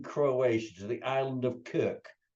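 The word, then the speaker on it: Krk: This time we're going to the largest island in Croatia, to the island of Kirk. Spelt differently, but pronounced exactly like Captain Kirk from the Starship Enterprise. The island of Kirk.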